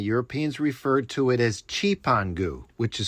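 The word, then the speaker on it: Cipango: But back then, it was written on the map and the Europeans referred to it as Chipangu, which is spelled c i p a n g o.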